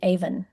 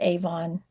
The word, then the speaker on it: Avon: me in a story, Avon was used. Well, it was saying Aan. You go into pronunciation, you spell it as many ways as you need to phonetically to get them to say Avon.